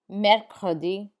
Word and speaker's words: mercredi: Pay attention to the R sounds in this one.